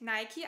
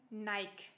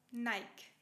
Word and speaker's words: Nike: Diese nach einer Siegesgöttin benannte Marke wird in Deutschland nicht Nike ausgesprochen. Wir sagen Nike. Nike.